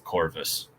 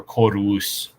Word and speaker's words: corvus: off of across the corvus. So, or corvus if we're going to be pronouncing it with the proper Latin.